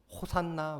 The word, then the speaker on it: 호산나: 호산나라는 말은 히브리어 원어를 살펴보면은 호시아나라는 말입니다. 이 호시아나라는 말을 그대로 헬라어식으로 발음한 것이 호산나인데 히브리 성경에서 사용된 대표적인 구절 중에 하나가 시편 118편 25절의 말씀입니다.